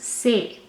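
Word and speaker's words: c'est: this is pronounced as a and this is pronounced as s so eventually this whole thing becomes say and say means this is or it is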